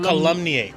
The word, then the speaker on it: calumniate: didn't pronounce it correctly all right today's word calumniate I be you pardum cumate ah calumniate or calumniate I'm sorry calumniate that is the correct pronunciation colum c a l u m n